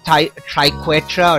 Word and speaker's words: Triquetra: The actual word is pronounced Triquetra or Triquetra. I'm calling it Triquetra because that's a few less syllables and I think it sounds cooler.